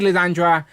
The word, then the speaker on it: Lilandra: So, but we need Lilandra as a Shi'ar. She say it properly for me, Rich. I'll get it wrong. The Shi'ar Empress. Yes, Lilandra.